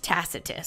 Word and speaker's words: Tacitus: say this man's name tacitus I was right tacitus so this fella tacitus okay the the Roman